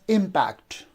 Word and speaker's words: impact: but actually here uh the second syllable is not stressed the first syllable is stressed so we pronounce it